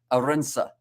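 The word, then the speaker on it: Arendse: And there, and the goal, to get pronunciation of that surname correct, says Christopher Arinsa.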